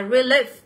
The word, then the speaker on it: relief: Thì âm này của chúng ta nó sẽ là âm Y dài nhá. Và Y dài thì nó sẽ nhận được trọng âm này. Các bạn sẽ nhấn vào âm số 2 nhá.